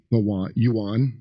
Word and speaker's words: yuan: The yuan.